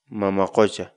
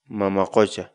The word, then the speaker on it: mama qucha: series videos where we teach you how to pronounce certain words in Quechua so our word of the day for today is mama question mama question mama question in English the Quechua word militia means see